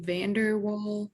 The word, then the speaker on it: van der Waals: the strongest which ones are the weakest the van der waals forces is that how you say it yep